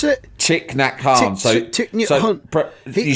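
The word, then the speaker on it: Thích Nhất Hạnh: Thich Nhat Hanh. You spell it Thich.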